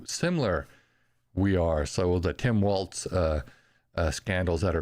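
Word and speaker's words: Walz: that are going on I'm probably pronouncing that wrong there's no T there so how do you pronounce his name walls Waltz walls I don't know Tim Walls uh and yeah so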